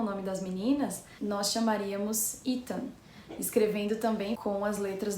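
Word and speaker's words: Itan: Esse nome, na forma americana de escrever, ele não escreve desse jeito, mas se pronuncia do mesmo jeito.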